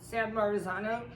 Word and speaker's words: San Marzano: of um it's sanar oh I can never pronounce it San Marzano is my favorite you've seen these everywhere and